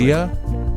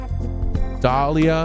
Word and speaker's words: D'Elia: D'Elia? It's D'Elia. Dahlia.